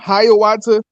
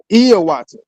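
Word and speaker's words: Hiawatha: So, if you ever heard of a man named Hayawata, it's actually pronounced Iawata, right?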